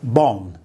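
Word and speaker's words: บอล: So ball will become bon.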